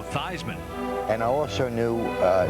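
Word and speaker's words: Theismann: a Notre Dame quarterback altered the pronunciation of his name from Joe thean to Joe thyman and I also knew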